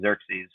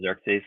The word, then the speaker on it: Xerxes: RX s and I when I listen to it it says Xerxes so that's just how I pronounce it um Xerxes is the